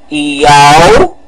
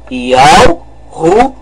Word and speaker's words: Yahushua: Então vamos pronunciar o nome. Yahushua. Vamos novamente pronunciar. Yahushua. Este é o nome correto.